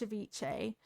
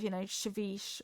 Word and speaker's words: ceviche: Today I learned how to pronounce, ceviche. I learned how to pronounce ceviche instead of, ceviche or something.